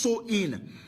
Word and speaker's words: Samhain: Halloween's origins date back to the ancient Celtic festival of Samhain, pronounced So-in.